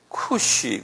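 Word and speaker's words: Cush: 그 다음에 제가 영어로 꼭 써드릴게요. 쿠시 그래, 쿠시. 요거 한번 보시면요. 쿠시 그래요.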